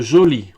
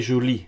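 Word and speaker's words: jolie: Entre joli au masculin et joli avec un E au féminin, on n'entend pas de différence en termes de prononciation.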